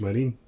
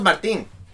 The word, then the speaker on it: Marin: I've been saying it wrong. I thought it was Martin.